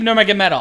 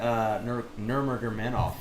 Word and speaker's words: Nurmagomedov: Khabib Nurmagomedov. I know how to say it, and then I get Nurmagomedov.